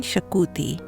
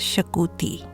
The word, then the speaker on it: Xacuti: This recipe is called Chicken Shakuti. Though it has an X in front, it is pronounced as Shakuti.